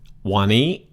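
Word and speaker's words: วันนี้: is cut in half if you look the first half one is flat tone and the second half of the word knee is a high tone word so or a high tone syllable actually so to say today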